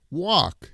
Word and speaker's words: walk: English yes you do walk it's an out open sounds the very very big sound I walk to work